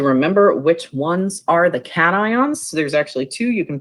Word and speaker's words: cation: ion and an ion these are compound words so we pronounce them as separate syllables um metals usually lose